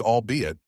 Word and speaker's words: albeit: That albeit is pronounced albeit.